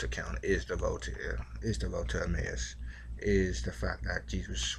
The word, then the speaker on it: Emmaus: Some I think it's pronounced Emmaus. I just say Amos.